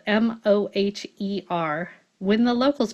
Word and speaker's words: Moher: Moher is spelled M-O-H-E-R.